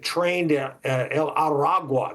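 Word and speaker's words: Tren de Aragua: have has come to our attention called the train Del aru I think that's the way you pronounce it trained araga that's what it is uh and they have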